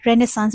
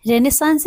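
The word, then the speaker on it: Renaissance: रेनेसांस बोलेंगे। से इसका करेक्ट प्रोनाउंसिएशन रेनेसांस है, और कुछ लोग उसको रेनेसा भी बोलते हैं, ठीक है।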